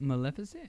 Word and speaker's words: Maleficent: is that I said you said it right Maleficent you said it right that's Jocelyn's actually that's